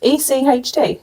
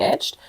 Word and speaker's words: Echt: Is this how you pronounce it as well? I pronounce it that way. I hope everyone else does. Well. Etched. E-C-H-T. Okay. Etched. Yeah, my Greek brain pronounced it echt. Echt. There's another way, tell us.